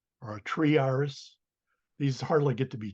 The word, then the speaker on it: Iris: gioser gioser yep um by the way uh Iris the I in Latin is always pronounced e so it really should